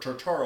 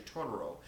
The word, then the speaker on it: Totoro: Spirit uh named uh Totoro or tartaro I thought was how it's pronounced but it's actually Toro and in Japan and